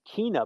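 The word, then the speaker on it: Kena: than I wanted to, and it's Kina, by the way, which I also learned. Kina, yes. Which I was been saying it wrong the entire time up until they announced it.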